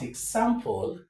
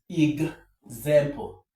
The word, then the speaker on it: example: that example for example now this word is not example but example ig example.